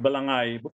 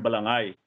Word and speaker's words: Balangay: That's the first time that the word Balangay, although he spelled it as Balanghay, but H is silent, because they didn't have this diacritical mark at the time. When H follows a G, the G should be pronounced as ga, not as ja.